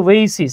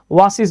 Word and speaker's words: oasis: ওয়েইসিস, হ্যাঁ, এটা উচ্চারণ হচ্ছে ওয়েইসিস। আমি আমার একটা ভিডিওতে ওয়াসিস বলছিলাম, আমি ভুল বলছিলাম আর কি, এটা উচ্চারণ হচ্ছে ওয়েইসিস।